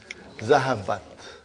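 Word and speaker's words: ذهبت: equal to okay now I say zahaba okay and then I'm putting Here open ta with a sukun. How do you pronounce it? Zahabat zahabat.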